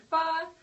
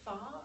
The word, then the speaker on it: pho: There's going to be jump rope, you can learn how to throw a spinning top, make pho, that delicious Vietnamese soup.